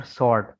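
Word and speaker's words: sword: ठीक है, whole, who और सॉर्ट, SW साइलेंट है, ORD, सॉर्ट, SORT, सॉर्ट।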